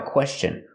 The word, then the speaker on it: question: If you ever have a question, remember the word question has a T-I-O-N after S. So T-I-O-N is pronounced chun with the chicken sound.